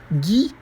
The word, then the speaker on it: Guy: verdade o Gui ougai talvez a pronúncia correta seja Guy Gui é uma pronúncia para o nome g1y também só que é uma pronúncia Francesa e é um nome